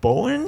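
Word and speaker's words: Bohinj: the tour continued on we went to Lake Bowen SHhhh I can't pronounce I'm gonna spell it for everybody it's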